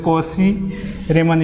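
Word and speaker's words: Cauchy-Riemann: cr equations or the koji uh raymond equations and also it is pronounced as a cosi rayman equations so uh there are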